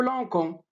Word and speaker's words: lançons: Pour garder le son S à lancer, j'ajoute CD sous la lettre C pour ne pas prononcer nous lançons.